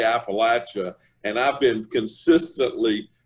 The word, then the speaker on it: Appalachia: you need to always think i'm going to throw an apple at you and if you think that you'll pronounce it correctly so now i know how to say appalachia and i've been consistently